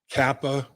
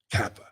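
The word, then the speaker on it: Cappa: offensive line, because, Collins, Kappa, Karras, 2 C's and a K, but the C's are hard C's. So phonetically, it all sounds like, that Collins, Kappa, Karras.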